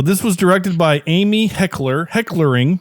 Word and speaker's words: Heckerling: So this was directed by Amy Heckerling. Excuse me, Heckerling. I gotta say it. Heckerling. I'm adding extra syllables.